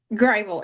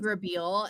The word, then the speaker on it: Grable: Is it Grable? Grable, yeah. I spent months saying Grabeel until I heard you